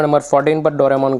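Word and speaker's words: ドラえもん: इसके क्रिएटर का नाम फुजिको फुजियो है और डोरेमोन एनिमे की शुरुआत 1969 में हुई थी और इसके ओनर्स फुजिको फुजियो, शोगाकुकन एंड हितोत्सुबाशी ग्रुप है। डोरेमोन का जापानीज प्रोनाउंसिएशन डोराएमोन है।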